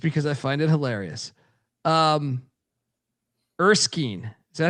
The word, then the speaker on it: Erskine: Erskine. Is that how you pronounce that? Yes. Erskine.